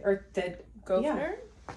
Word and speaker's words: Gouverneur: It's Thea Gouverneur. Gouverneur? Yeah. It's got an S in it. There's no R after the G or the Gouverneur?